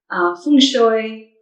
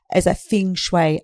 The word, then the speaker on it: feng shui: So feng shui is pronounced in a few different ways depending on the region where you're from. So it can be pronounced feng shui, feng shui, feng shui, just not feng shui.